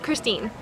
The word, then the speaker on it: Christine: Christine.